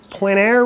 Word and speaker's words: plein air: tell us a little bit about this it's Plein Air right am I pronouncing that correctly yes you are it's a